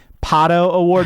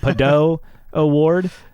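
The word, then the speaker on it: Pato O'Ward: Now, if we could just get Kevin Burkhardt to know how to say Pato Award, not Pado Award, yeah, that would help.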